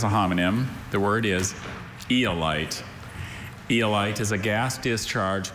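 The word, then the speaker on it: aeolight: Eolite? Eolite, that's the only pronunciation, right?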